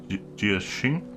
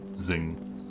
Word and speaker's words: Xing: Your father, Jia Xing? I think that's spelled Xing, not like Zing.